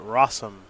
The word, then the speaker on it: Rosum: Rosum. Did you know it rhymes with awesome?